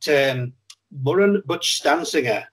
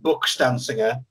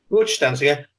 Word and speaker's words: Murun Buchstansangur: I've had just a little look back at Murun Buchstansangur, which is how it's correctly pronounced. I was saying Buchstansangur and was immediately corrected when I watched it all back. Yeah. Buchstansangur.